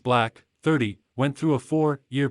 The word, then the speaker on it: 6LACK: takes a vulnerable look at his life after seeking therapy black pronounced black 30 went through a